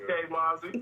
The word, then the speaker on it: K Mauzy: All right, we're gonna bring in K Mauzy. Am I pronouncing it right? Yes, K Mauzy.